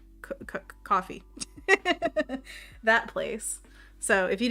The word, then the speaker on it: Ko-fi: I've heard it said multiple ways. Ko-fi? Coffee.